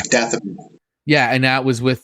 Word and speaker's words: Dathomir: Yeah, Darthamir, or Dathomir. How do you say it, Ken? Yeah, Dathomir.